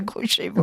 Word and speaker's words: Grouchevo: un bon accent ukrainien, mais comme c'est pas le mien, je préfère dire grouchevau. Oui. Oui. Non, c'est plus pour les Français, c'est plus facile de prononcer Grouchevau.